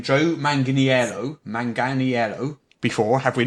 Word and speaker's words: Manganiello: and Joe mang still didn't know how to pronounce his name Joe Manganiello mangani yellow before have we not with his